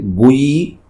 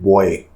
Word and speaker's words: buoy: Americans call it "Bui" and Britishers and we Indians call it "boy".